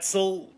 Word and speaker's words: Oetzel: My name is Zel. The O is silent.